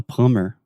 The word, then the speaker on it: plumber: like plumber yeah a plumber yeah that has a b in it oh yeah I don't know why we don't say plumber no that sounds ridiculous plumber yeah but anyway back